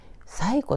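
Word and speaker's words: 西湖: というところです西に湖と書いて最古と読みますこの最古の湖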